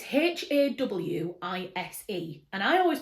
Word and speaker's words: Hawise: that was Haywise, and I always pronounced it Haywise. And then in the back of this book, it tells you how to pronounce it, and it's not Haywise at all. It is Hawise.